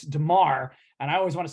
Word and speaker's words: Damar: I actually just looked at it to make sure I said it right because he almost sounds it's Damar, and I always want to say Duron Harmon, who used to play for the Pats.